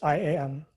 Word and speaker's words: IAM: How many syllables are in IAM? I just said it. It's IAM, three syllables, three letters.